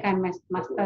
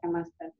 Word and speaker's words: KineMaster: Bacanya KineMaster ya, KineMaster.